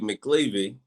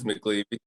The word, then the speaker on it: McElvaney: I'm sitting here now with Mcelvaney, Coach McLeavy. Am I saying it right? McVaney. Oh, McElvaney. McElvaney.